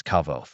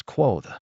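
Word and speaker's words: Kvothe: his smile broadened mine my name is kavo pronounced nearly the same as quo names are important as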